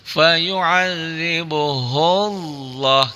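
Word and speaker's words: فَيُعَذِّبُهُ اللَّهُ: Kalau sebelumnya ini sebelumnya domah ya ini dibacanya tebal. Fayuadzibuhullah gitu ya.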